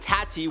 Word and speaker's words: Tati: 10 James Charles and tati Westbrook I say it like tati because last time I called her toddy her Tatty and you guys got mad so I'm emphasizing the tea tattoo the feud between